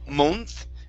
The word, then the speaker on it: month: to the word month instead of mo month it's going to be an uh sound month try that month there you